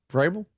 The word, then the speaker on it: Vrabel: Vrabel. Vrabel.